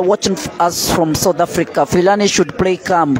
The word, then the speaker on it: Philani: Philani should play calm.